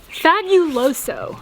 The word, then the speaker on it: fabuloso: Bro, how do you say this? Fabuloso. We talk like gringos. Fabuloso. Wait. Do what you want. Bienvenidos a Panama. Me gustaría. It's fabuloso. Fabuloso.